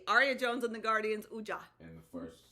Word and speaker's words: Wedja: Aria Jones and the Guardians, Wedja. And the first name, the first name. Jagger Jones and the Mummies, Ankh. There we go. Wedja. That's how you pronounce yes, it? Wedja.